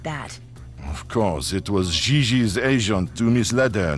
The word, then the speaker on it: JJ: mean jj gg jj on francais you pronounce g like j and j like g she may very well be jj in america but in france she is gigi how well does she